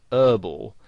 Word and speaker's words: herbal: Now, in American English, the word herbal has the H silent, so they pronounce it herbal. Now, you might find somebody actually spells it that way, herbal essences, because that's how they would pronounce it, whereas in British English you would pronounce the H, and you would say herbal essences.